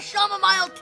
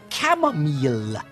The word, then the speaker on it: chamomile: whilst I drink my shamomile tea um father I believe your tea is pronounced chamomile is an outbreak please